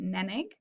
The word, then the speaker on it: Nenig: The O is silent there, so you say it Nenig.